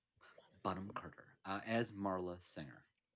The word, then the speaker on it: Bonham: Understand that it is Helena Bonham Bonham. Carter. Bonham. Just Bonham.